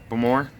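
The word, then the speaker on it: Baltimore: It's pronounced like s'more, but Bamore?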